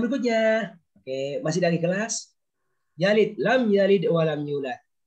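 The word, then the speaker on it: يلد: Ini baca yalid ya, bacanya mati.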